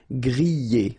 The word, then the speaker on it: griller: Remember, er, because these are verbs here. Griller, pocher, éplucher, okay? You pronounce them E, okay, even if you've got this R, okay, this combination of 2 letters, R at the end, will give you the sound E, all right, so griller,